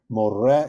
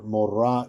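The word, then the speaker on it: מורה: can see down here, more is a male teacher, mora is a female teacher. And that hey at the end is silent in both cases.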